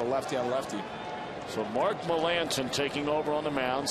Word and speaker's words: Melancon: It's a very odd pronunciation for the way it's spelled. I botched that one. Well, you and me both. I mean, it is a very odd pronunciation, but it is Melancon.